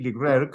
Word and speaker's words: Leclercq: los legendarios KREATOR Frédéric Leclercq. Welcome to The Dark Melody, Fred. How are you doing today? Hello, I'm good. It's pronounced Leclerc, but it's fine.